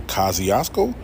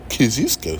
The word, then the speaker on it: Kosciuszko: This is either Kosciuszko or Kosciuszko. That's it. That's it. There's the only ways to say it. Not Kosciuszko Street. Nah, nigga. Kosciuszko or Kosciuszko. That's it. Anybody else say any other way, they not from New York.